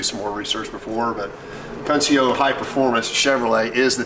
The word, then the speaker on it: Scuncio: the S and then the Cuncio, which is pronounced Scuncio. I'm going to read you a paragraph that Chuck just sent me. Scuncio, pronounced Scuncio, they were very well known as the performance dealer in the Northeast.